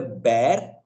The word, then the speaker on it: bear: A lot of people mispronounce bhalu as beer, but beer is an alcoholic drink, right? Bhalu can be pronounced as either bear or bear, but beer is Yeah. incorrect. Again, that is lack of knowledge.